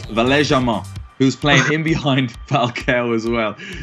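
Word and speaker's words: Valère Germain: And obviously, we'd call him Valerie Germain, but it's Valais Germain, who's playing in behind Falcao as well.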